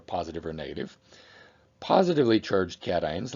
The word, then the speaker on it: cation: or negative positively charged cations like these sorry ions are called cations and it is pronounced cation not casein any Ion with a